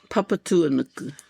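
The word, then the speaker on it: Papatūānuku: The Mother Earth, Papa Tua Nuku.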